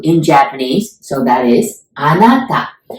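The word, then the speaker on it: あなた: Japanese so that is anata Anna like the girl's name Anna but it's okay and as in Tangles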